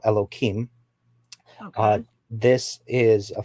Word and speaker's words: Elohim: So the first term that you used, and I'm going to break up the word. It's Elo and then Him, which I will call Elohim.